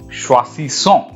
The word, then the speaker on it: choisissons: Je choisis, tu choisis, il, elle choisit, and now nous choisissons. Choisissons. You can see here, there is single S when I am pronouncing choisi, and then double S is coming, so son. So choisissons, vous choisissez, il, elle choisissent.